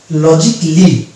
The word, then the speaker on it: logically: এর অ্যাকচুয়াল উচ্চারণ যদি আমরা করতে যাই তাহলে সেটা হয়ে যাবে লজিকলি। এটা হবে লজিকলি। তাহলে কি এখানে সাইলেন্ট দেখতে পাচ্ছি?